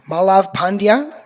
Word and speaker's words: Malav Pandya: Today, I am joined with Malav Pandya from Triple Whale. Malav, nice to see you. Have I pronounced your name correctly?